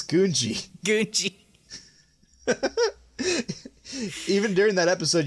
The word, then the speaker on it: Gungi: How's it pronounced? Mac's going to be so mad at me. It's Gungi.